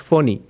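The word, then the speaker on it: Fani: Most people pronounce it funny, but it's supposed to be pronounced phony.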